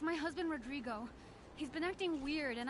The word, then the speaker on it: Rodrigo: Rodrigo! I can't quite roll my R's. Max, you do it better than I can. Can you come over here and roll your R's?